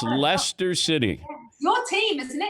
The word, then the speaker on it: Leicester: So and it's Leicester City. It's not Leicester City. It's Leicester City.